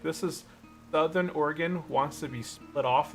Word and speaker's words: Oregon: People don't even know how to pronounce Oregon. It's like Oregon. No man, it's Oregon.